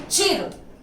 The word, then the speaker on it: चीर: लेकिन अगर इसी छोटी ई की मात्रा को हम बड़ी ई में कहते हैं तो उसका प्रोनाउंसिएशन थोड़ा सा अलग होगा, चीर होगा, और उसका अर्थ देर